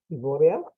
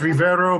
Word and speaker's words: Rivero: of the day ivoria did I pronounce your name right it's Rivero but everybody pronounces by